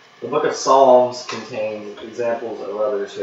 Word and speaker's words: Psalms: I'm going to say the P is Silent. The book of Psalms contains examples of others who have expressed anger, questions, or pain to God.